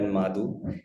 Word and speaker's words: Madhu: But Madhu is it's not pronunciated as Madhu, it's pronunciated as Madhu. It's a Gotra name from the Sindhi community.